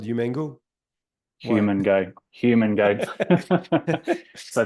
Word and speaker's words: Humango: your th French accent Eric how do you pronounce the name of our app obviously it's called human go human go human go so thanks everybody um